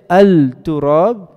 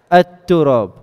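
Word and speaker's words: التراب: For example, if I have the word turab, and I add alif, lam, I don't say al-turab, I say at-turab.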